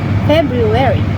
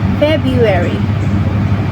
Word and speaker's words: February: The correct or formal pronunciation is February. But many English speakers say February or February. Here the first R sounds change or disappears.